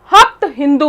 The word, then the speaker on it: हप्त हिंदू: देखिए सप्त को इन्होंने बोला हप्त, क्योंकि इसमें से था सबसे पहले, तो क्या हुआ, जो सप्त को हप्त और सिंधु को इन्होंने हिंदू या हिंदूज, ये प्रोनाउंसिएशन में डिफरेंस आया था।